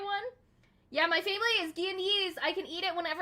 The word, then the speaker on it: Guyanese: My French brain wants to pronounce G-U as a Guy.